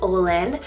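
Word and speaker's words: Olyn: O name for this girls list, we have Olin, spelled O-L-Y-N, Olin.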